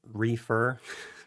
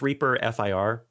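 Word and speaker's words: ReaFIR: basic the uh so i don't know how you pronounce it reefer which is really not a great way to say it um but it's reaper fir which stands for finite impulse response it's like a dynamics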